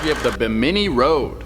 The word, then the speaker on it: Bimini: That's not how you say that. I don't think that's how you say It's that either. it's Bimini. I was just there. It's Bimini.